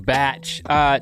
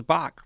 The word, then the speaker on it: Bach: our conversation with King batch tweet at King batch and let him know what you think about conversations it's spelled like Bach King bee ACH and yeah I might have thought it was Bach first time I the